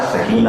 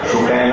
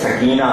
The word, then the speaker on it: سکینہ: دوہرا دیجیے گا کہ تلفظ سکینہ کا سکینہ ہے، سکینہ نہیں. قرآن میں لفظ سکینہ ہے، سکینہ نہیں. جو بول رہا ہے غلط اور حرام.